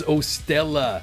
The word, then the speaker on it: 0Stella: That is 0STELLA, spelt with a zero instead of an O at the beginning.